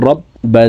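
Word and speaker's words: رَبّ: প্রিয় দর্শক, বার উপরে তাসদিদ আছে, তো তাসদিদওয়ালা হরফ দুইবার উচ্চারণ করিয়া পড়িতে হয়, একবার পূর্বের হরকতের সঙ্গে আরেকবার নিজ হরকতের উচ্চারণ হবে। র বা জবর রব বা জবর বা রব্বা, হা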